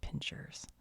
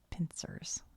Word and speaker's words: pincer: And my mom was Southern. She always said pincers. And I thought she was just doing a funny Southern accent on it because she does that. But the way it's spelled doesn't have an H. It's actually Pincer.